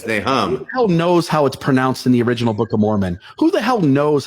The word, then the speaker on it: Nahom: Now, it's not Nahom, like No. the Book of Mormon. It's Nahom.